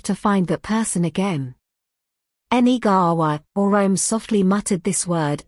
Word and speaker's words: Negary: This word is from the Kochi language, it's pronounced Negary.